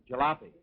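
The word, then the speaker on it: jalapeño: what'd you say how do you say that jalapeno jalapeno jalapeno that's right okay now do you think that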